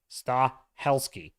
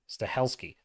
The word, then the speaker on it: Stahelski: franchise a success Stalin uh St stesy stes stahelski stahelski I think that's how you say it staheli